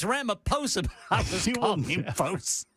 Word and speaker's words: Ramaphosa: It's Ramaphosa.